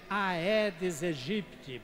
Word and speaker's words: Aedes aegypti: Do Aedes aegypti, não é Aedes aegypti, porque é latim. Latim, essas duas palavras A e E, quando estão juntas, se pronuncia E, Aedes aegypti.